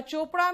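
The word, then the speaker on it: Chopra: फिर वापस आओ, यहां बताओ सी एच श दे रहा है, केमिस्ट्री में सी एच क देता है, और चोपड़ा में सी एच च देता है ना?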